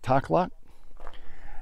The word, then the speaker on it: Takhlakh: And I believe you pronounce this place, the lake is Lake Takhlakh.